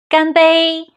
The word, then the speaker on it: 干: 新年快乐，干杯。下一个 very important, 很重要 is 干。You see, it's the same character like dry.But now it's another tone and another meaning. It's a verb meaning to do. 干, a falling tone.